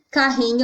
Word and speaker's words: carrinho: No caso de carrinho, carrinho é uma paroxítona, porque a sílaba tônica, que é a sílaba mais forte, que eu demorei mais para falar, é o ri, e ela está na posição penúltima.